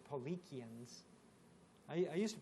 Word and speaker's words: Paulicians: in turkey in the armenia they were called Polly qian's I used to pronounce this policy and then when we got over there to Serbia they said no it's Polly kyun ok so and they spelt with a k